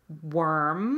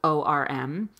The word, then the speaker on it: worm: so you had asked about the difference between worm I'm like a worm on the ground wor M warm like warm or cold whereas in you